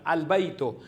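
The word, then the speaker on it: البيت: So sa tiyak ng artikulo laging binibigas itong al halimbawa sa mga salitang albaitu ang word halimbawa ay baitun.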